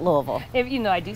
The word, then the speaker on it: Louisville: yes not louisville not louisville if you know i do say right yeah everybody if you don't know how to say it get it right it's not louisville not louisville louisville louisville yep and you have to